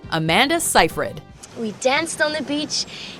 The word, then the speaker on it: Seyfried: forced to correct others most can agree that the last name has two syllables yet people often insert